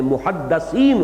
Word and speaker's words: محدث: میں محدثین ہوتے ہیں۔ اس لفظ کو اچھی طرح صحیح تلفظ کے ساتھ سمجھ لیجئے۔ محدث دال کے زیر کے ساتھ، وہ تو وہ علماء ہیں کہ جو علم حدیث کے ماہر ہیں، محدثین، فقہاء و محدثین، دال کی زیر لگائیے۔ اور جب محدث